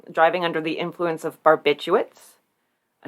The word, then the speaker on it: barbiturates: under the influence of barbiturates a name i could never spell on right on the first try there's that second r there that you don't expect unexpected r because it's spelled barbiturates